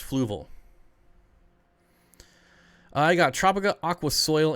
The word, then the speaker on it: Fluval: them down to your your seven ph it's pronounced fluval it's pronounced fluval i got tropica aqua soil and co2 injection